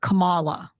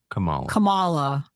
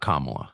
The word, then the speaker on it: Kamala: So I remember her putting the emphasis on the second syllable. So it was like Kamala. Kamala was how she pronounced it. Not Kamala.